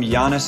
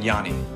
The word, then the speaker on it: Yannis: note I called him Yanis in high school and in this episode but I've since learned he now goes by the true Greek pronunciation Yanni so here's Yanni let's get started already mr.